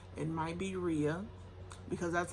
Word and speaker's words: Rhea: It might be Rhea, because that's how I was pronouncing it. As I was reading it, I said Rhea. It's R-H-E-A. But the way the characters kind of pronounced it was like Ray, I guess.